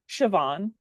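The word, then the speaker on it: Siobhan: you you had to hop off all right sabon how do you say your first name give it to me awesome one more time sioban sioban lovely all right tell us what you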